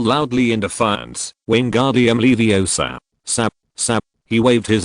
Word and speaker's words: Wingardium Leviosa: You should pronounce it gently as Wingardium Leviosa instead of putting the emphasis on sa.